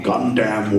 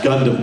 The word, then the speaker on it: Gundam: But anyway, Peter Cullen back in the day, you hear him just mispronounce everything. It's like, coming up on Gundam Wing. It's Gundam.